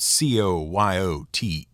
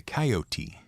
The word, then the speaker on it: coyote: Some people say coyote, and some people say coyote. So which is it? Well, if you're the sort of person to get out your dictionary the moment a pronunciation disagreement starts, let me save you some time by telling you it doesn't matter. Either one is correct, and differences are the